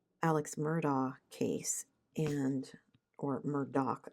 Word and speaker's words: Murdaugh: And then I saw one about the Alex Murdaugh case and or Murdock, I guess is how they pronounce it, even though it's spelled A U G H.